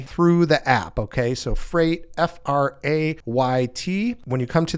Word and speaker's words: Frayt: Next up is Freight, and that's spelled Frayt.